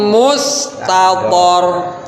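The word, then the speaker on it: مستطر: Terus wakabirim wakabirim mustator.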